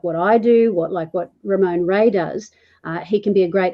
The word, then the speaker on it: Ramon: So someone like Ramon, and see, I pronounced it right. It's Ramon, even with an Australian accent, it's Ramon.